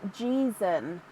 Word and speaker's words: Jeezen: Oh, it's pronounced Jeezen, but you'll take whatever.